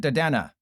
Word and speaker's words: Dedenne: Telerian Community College literally calls it Dedena. It is called Dedena according to Telerian Community College.